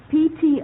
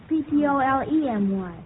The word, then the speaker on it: Ptolemy: It can also be spelled without the E, so you're still correct. And the next one is Ptolemy. Claude? Ptolomy. No, that's wrong, Claude. Van? Ptolemy.